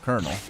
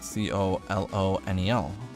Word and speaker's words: colonel: that's how you spell the word colonel. Like, I knew the military rank colonel, I've heard of that, I had heard of that before, but I didn't realize that you spell it C-O-L-O-N-E-L.